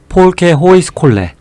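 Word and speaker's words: folkehøjskole: 질 것 같긴 한데 폴 케 호의 스 콜렛 라고 하시면 될거 같고 아마 이제 보통은 영어로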